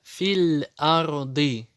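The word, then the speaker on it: فِي الْأَرْضِ: Далее филь-арды. Фи не тянется, потому что после этого приходит сукун.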